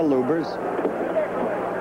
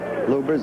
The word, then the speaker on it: Lubbers: Indonesia Mohammad Ali against Rudy LS or lubers it's pronounced both ways luers is probably more technically correct anyway it's the way Rudy wants it said see how